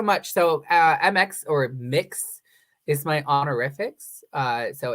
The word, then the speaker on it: Mx: so uh MX or mix is my honorific uh so it's a gender neutral honorific pronounced mix um not like it